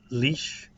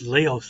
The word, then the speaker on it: Laois: is Abbeyleix in County Laois. Am I pronouncing that right? Yeah. I know when you read it, it doesn't sound anything like Laois. It sounds like Laos or something.